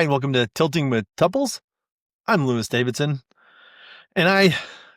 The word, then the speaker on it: tuple: It's tuples. It looks like tuples. It's pronounced tuple. I don't know why it's pronounced tuple. I just know that's the way it's supposed to be pronounced based on the people I've been taught from.